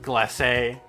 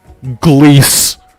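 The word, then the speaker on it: glacé: of blueberry glace i did pronounce that right glassey not gliese or glee carl sanders seems intrigued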